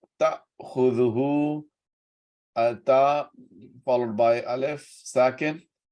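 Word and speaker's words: تَأْخُذُهُۥ: La, not, ta'khudhuhu, ta followed by alif, second. There will be a slight pause. Ta'khudhuhu, ta'khudhuhu. Make sure you pronounce alif, not ain.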